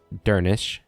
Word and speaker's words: Dernisk: the y uh uh dernisk is pronounced dernish since the final s or s c cluster sounds like a like an sh sound um so this one